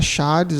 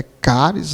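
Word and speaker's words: χάρις: charis, que na realidade a pronúncia não é charis, a pronúncia é caris, né?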